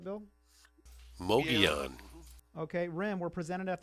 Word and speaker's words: Mogollon: His discoveries of 270 million-year-old mammal-like reptile tracks in Arizona on the, I don't know how you pronounce that, Mongolian. Is that right, Bill? Mogollon.